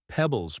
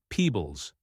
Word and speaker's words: pebbles: Pebbles pronounced as peebles.